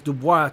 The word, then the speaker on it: Du Bois: Du Bois out there, or Du Bois, however you pronounce it. It's a French name. It's Du Bois, I remember. Du Bois.